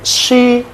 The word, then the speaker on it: she: Oke, she dia perempuan ya kan? Jadi jangan dibaca si.